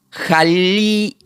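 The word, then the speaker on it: ἁλιεῖς: Esta palabra pescadores griego se pronuncia como aleuyus. Pero como tiene una H se diría jalieus.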